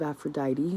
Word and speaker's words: Aphrodite: you born today there is a story of Aphrodite who that's how you pronounce it who uh to escape the monster